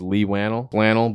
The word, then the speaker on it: Leigh Whannell: I think it's Leigh Whannell, but with a WH, man.